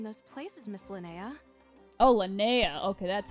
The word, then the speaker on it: Linnea: Oh, Linnea. Okay, that's how you pronounce her name.